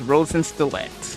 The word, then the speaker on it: Rosenkreuzstilette: Okay, I might butcher it a little, but So, the name of the game is Rosen Stlet.